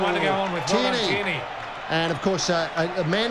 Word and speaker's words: Tierney: Tierney. Right, this is 8, rhymes with date.